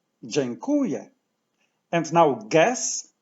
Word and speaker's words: dziękuję: now as you remember word stress falls on the syllable qu so let's say from the end yeah yeah whoo yeah whoo yeah genku yeah genku yes say thank you in Polish Jan Kuya Jen Kuya and now